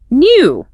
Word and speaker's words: new: Feel that little J sound sneaking in for the British version.